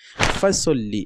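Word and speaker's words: فَصَلِّ: আজকে এই পর্বে আমি দেখব যে সূরা আল কাউসারের দ্বিতীয় আয়াতটি, ফাসল্লি লি রব্বিকা ওয়ানহার। ফাসল্লি, ফা ফা এটা হারকাত, সল্লি তাজদিদের সঙ্গে সোয়াদ লাম জবর সল, লাম জের লি, ফাসল্লি।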